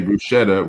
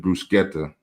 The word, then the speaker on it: bruschetta: Everybody say bruschetta when it's bruseta.